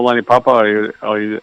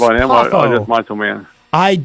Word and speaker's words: Lanny Poffo: Do you care about Lenny Papa? Lenny Papa? I believe it's pronounced Poffo.